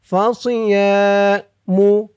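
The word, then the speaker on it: فصيام: ইয়া এক আলিফ টান ফাসিয়ামু সদের উচ্চারণটা খেয়াল করবেন, সি বলা যাবে না, সি বললে সিনের উচ্চারণ হয়ে যাবে।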